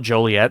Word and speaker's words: Joliet: But there's a facility opening in Joliet, whatever you want to call it. I'm going to call it Joliet. That's how I pronounce it.